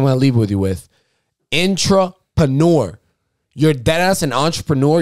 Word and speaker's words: intrapreneur: I'm here with the intropreneur. Entrepreneur again. I said it right. Intro. Yes. Intrapreneur. Again. Yo, my people, don't forget this line. Ready? My last thing I'm gonna leave with you with. Intrapreneur.